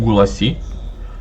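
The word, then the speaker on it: Gulácsi: головна зірочка мусяіаля Гула гулачі чи як гуласки я знаю як воін правильно читається я чув гуласі юндаган капітан дивіться тут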